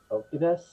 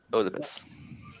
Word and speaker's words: Oedipus: His name was, I cannot pronounce it, Okibus? Oedipus.